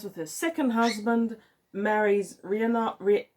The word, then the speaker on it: Rhiannon: Then we have a one where her second son that she has with her second husband marries Rhiannon I think that's pronounced Rhiannon in Welsh, but I'm not sure cuz I don't speak Welsh.